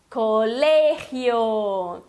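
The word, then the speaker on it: colegio: Então, o que tu tens que cuidar é colé, não colé, e o som do G, que é r.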